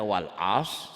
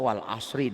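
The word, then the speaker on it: والعصر: pun Quran apalagi kekuran jadi kalau kita membacanya Walsh salah harusnya Wal ashri Demi Masa artinya lain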